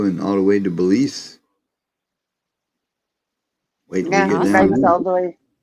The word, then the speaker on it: Belize: He rides all the way to I don't know Belize. if I'm saying that right, but however you say it, Belize, is that right? Yeah, you said it right.